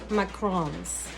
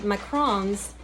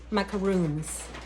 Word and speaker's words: macarons: all over the place no I believe she mispronounced it I think she called them macaroons which is made out of coconut completely different but at